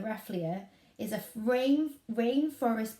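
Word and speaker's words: Rafflesia: is called the ref let me say it correctly the wrath Leah the wrath the wrath Leah is a rain rain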